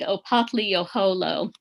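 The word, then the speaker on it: Opothleyahola: a very aged and venerable Muscogee Creek named Opatli-Oholo. Occasionally you'll hear it pronounced a little bit differently than that.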